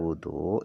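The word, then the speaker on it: وضوء: Nah, cara baca wudu ini bidomil wawi dengan dibaca domah wawunya.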